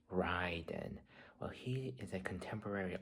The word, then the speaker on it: Ryden: I mean, yes, it's pronounced Ryen.